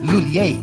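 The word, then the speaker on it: M Lhuillier: Lulier? English speakers commonly pronounce it as Lulier. But for Filipinos, mas madaling ibigkas ang Lulier.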